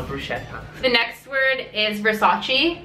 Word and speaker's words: Versace: the next word is Versace like Vace Vace medus head like verace verace Vace Vace you the Drake song No Toronto oh damn okay Versace Versace verace Versace guys not CH verace the next one is